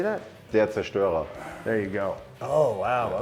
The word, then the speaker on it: Der Zerstörer: Conan Deserstorer. How do you say that? Der Zerstörer.